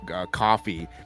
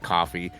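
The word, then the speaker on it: Ko-fi: stuff like patreon our coke coffee I think is how they pronounce it's the KO - fi yeah yeah be like coffee buy me a car all I can hope I in my mind but it probably is coffee yeah I I read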